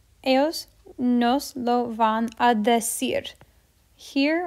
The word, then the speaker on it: decir: Ellos nos lo van a decir. Here, our emphasis is on decir, that syllable. Cir, decir.